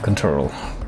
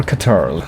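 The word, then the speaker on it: Ctrl: just wait and spam control. Control or Catarl, whatever you want to call it. I try to mix the two ways of pronouncing that in the same breath there, which you can see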